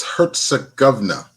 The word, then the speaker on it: Herzegovina: Say it again, Marquis. It's Herzegovina.